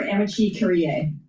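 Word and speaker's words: amici curiae: Wait, so how do I pronounce it? Amici or Amici Curie? I go amicus. I say amicus or amici, okay.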